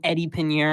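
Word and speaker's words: Eddy Piñeiro: Eddie Pinheiro.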